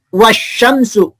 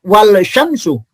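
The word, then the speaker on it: والشمس: Contohnya, ini kan dibaca asyamsu. Ya. Bukan al-syamsu atau dibaca wasyamsu, bukan wal syamsu.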